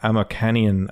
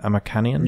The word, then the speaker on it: Amokanian: It looks like Amokanian. Amokanian? Yeah, that's it. That's exactly right.